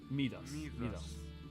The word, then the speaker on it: Midas: that, like, you know, in English we have, like, King Midas is like, is how we usually pronounce it. Okay, so I typed Midas pronunciation. Midas. It says that. And then, how do you pronounce it in Greek? Midas. Okay. So it's the American versus the Grecian.